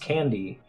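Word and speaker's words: Can-D: is this product called can dashd pronounced candy and people chew this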